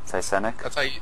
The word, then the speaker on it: Cycenic: Cycenic? That's how it's pronounced.